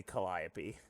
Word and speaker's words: Calliope: They pronounce it Calliope, and I was like, wait, is that how it's pronounced? And I looked it up, and it turns out that is how it's pronounced. It can be pronounced like any way you want. Honestly, I don't give a shit. But I think it's supposed to be Calliope, technically.